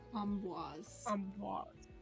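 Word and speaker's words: Amboise: Um says with a nasal a n sound. Um and then followed by b w a z is sometimes anglicized as um boys but the French pronunciation is preferred.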